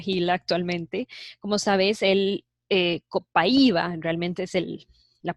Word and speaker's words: Copaiba: Como sabes, el Copaiba, realmente es la pronunciación Copaiba, se extrae de los bosques del Amazonas en Brasil.